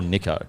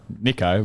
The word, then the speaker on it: Nicho: Is it Nicho or Nicho? Nicho, but some of the poly boys say Nicho.